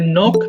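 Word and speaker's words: knock: এটা আবার ক্লক বলো না অর্থাৎ এন এর আগে যদি কে থাকে যেমন নো নলেজ তাহলে কে এর উচ্চারণটা হয় না তাহলে নক মানে টোকা দেওয়া নক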